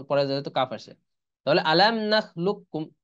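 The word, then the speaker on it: أَلَمْ نَخْلُقْكُمْ: তাহলে উচ্চারণ আসতেছে মাল্লা ইউহিব্বু, আর একটা হলো আলাম নাখলুককুম, লুক্কুম, কফের উচ্চারণ কিন্তু আসতেছে না, কাফের উচ্চারণ আসতেছে।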